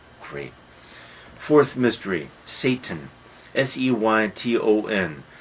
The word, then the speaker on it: Seyton: Seyton. Probably we should pronounce it Satan, but a natural pronunciation is Satan. But Satan, Satan.